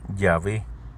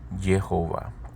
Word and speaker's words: Jehová: Por 2 siglos los académicos creyeron, basándose en fuentes griegas, que el nombre hebreo de Dios se pronunciaba Yahvé. Sin embargo, Gordon encontró fuentes judías tradicionales que identificaron explícitamente las vocales del nombre del Dios en hebreo como Jehová, similar a Jehová en español, pero con Y, y énfasis en la